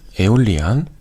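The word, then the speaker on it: Aeolian: 그리고 여기 여섯 번째 음부터 여섯 번째 음까지 에올리안. 여기 발음이 에올리안이라고 읽으시면 돼요.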